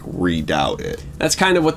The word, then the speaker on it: redoubt: red out red readout I think that's pronounced reduction redoubt it's not like a readout well I think maybe